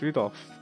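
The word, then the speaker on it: Rudolf: struggle reading that sure that mess of characters is pronounced rudolph damn okay you must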